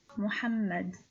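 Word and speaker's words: محمد: lidal which has sikon so this name is pronounced as mu muhammad now your turn please try to celebify these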